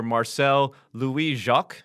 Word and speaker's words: Marcel Louis-Jacques: joined today by nfl nation buffalo bills reporter marcel louis jacques did i get that right there yeah you